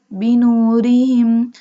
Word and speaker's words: بنورهم: ذهب الله بنورهم. Here we doesn't bold ra because ra has a kasra sign.